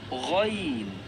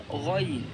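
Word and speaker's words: غين: Cuba sebut ikut saya ghaain kita sebut apa ghail cara Eja dia kalau kita Eja dalam Melayu dia akan jadi ghail kita tak baca Gin kita tak baca Gin kita baca ghail jadi bila kita baca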